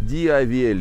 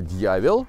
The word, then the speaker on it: Diavel: Ну вот как-то в России получается неправильно произносят название Но люди как как видят так и произносят X диабель И вообще диавель просто но на самом деле итальянское правильное произношение это дьявол дьяволь Ну как-то наверное вот так приблизительно так вот Ducati как обычно хотели